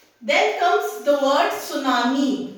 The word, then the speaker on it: tsunami: Then comes the word tsunami. This T is silent.